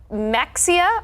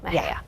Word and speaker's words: Mexia: Is it Mexia or is it Mejia? B. It is B, Mejia.